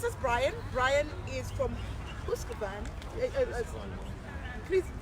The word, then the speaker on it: Husqvarna: Brian is from Husqvarna. Please pronounce it the best way. Husqvarna.